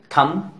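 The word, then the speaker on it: thumb: टी एच यू एम B, pronounce करेंगे थम.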